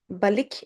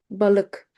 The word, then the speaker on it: balık: Balik is wrong. Balık. Balık.